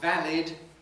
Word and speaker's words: valid: kind of english because in a word like valid i have a different vowel from what i have in salad salad ends in lud valid ends in lid australians typically say valor